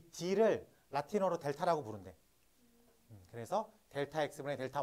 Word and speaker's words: 델타: 얘를 델타라고 읽습니다. 뭐라고 읽는다고?